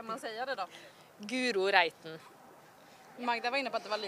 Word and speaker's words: Reiten: Det är Reiten, Reiten, allt annat än Reiten.